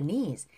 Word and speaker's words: knees: 자, 요 발음 bend your 연음새다 bend your bend your bend your knees. 네가 무릎인데요. K가 발음이 안 나요.